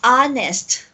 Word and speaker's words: honest: I'm here because it's it doesn't have the H sound in the beginning like for example an honest person so you don't say honest but an honest because honest although it starts with letter H the beginning sound is off honest it's an honor to